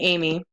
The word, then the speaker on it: Emigh: My middle name, although it is spelled Emigh, is pronounced like the name Amy.